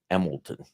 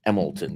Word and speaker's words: Emlenton: emlenton everybody pronounces it emilton I never saw such a thing the spelling would be e m e l t o n but it's emlenton but it's pronounced emilton by by the natives by the natives since